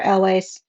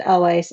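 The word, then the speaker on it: Elwes: that carrie yules and or elways i think it's pronounced always always say eels but carrie is in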